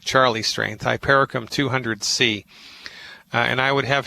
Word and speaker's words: hypericum: It's homeopathic hypericum. You spell that H like Harry, Y, P like Peter, E, R like Robert, I, C like Charlie, U, M like Mary, Hypericum.